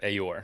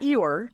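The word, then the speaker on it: AORE: known as aor and pronounce that aor yeah aor not eore uh you know Tiger's friend but um but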